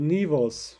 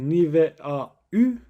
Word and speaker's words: niveau: pirjimariya vê jî di nîvos. Bala xwe binê li vê derê em nabêjin nîve a û lê em dibêjin nîvo. Em a û dikin o lange klank. Em wisa telaffuz dikin.